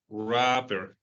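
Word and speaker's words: wrapper: que dice rapper cierto la W no la pronunciamos este de acá rapper y vamos a ver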